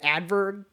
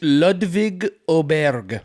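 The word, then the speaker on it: Ludvig Åberg: Yeah, but I just decided to spice things up with Adverb, the the Swedish guy.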